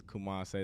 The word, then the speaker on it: Koomasae: Because for those that know me, my name is Koomase. That's my birth name, but it's spelled differently.